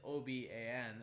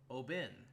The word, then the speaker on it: Oban: so so obon is oban and apparently this guy tells me that's supposed to be pronounced obin and i'm like why why